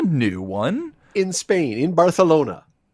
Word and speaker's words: Barcelona: A celebrity Ben story of the day offering comes to us from Barcelona, which is the proper way to say it. Not Barcelona, it's Barcelona.